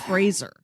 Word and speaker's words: Fraser: it's Brendan Fraser it there's no eye in it it's not like the Kelsey Grammar show it's Fraser I'm terrible everybody makes that